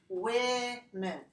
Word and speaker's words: women: and all their stuff it doesn't sound anything like the way it's written so I'm going to write it let's say if you know English like this if you look at a word like this you pronounce this women women women so that's all that